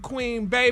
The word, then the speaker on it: Queen Bey: Nicknamed Queen Bey, pronounced Queen B, she is regarded, y'all, as one of the most influential cultural figures of the 21st century, honey.